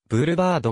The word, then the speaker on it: ブールバード: 命名された英語的発音を参考にすればブールバードがより原音に忠実な表記となる媒体に